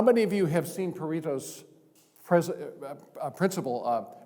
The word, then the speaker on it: Pareto: How many of you have seen Pareto's principle? Might be pronounced Pareto, because he was an Italian in the late 19th century.